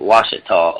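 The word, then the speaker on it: Ouachita: That's Ouchita, but they pronounce it Washita over there.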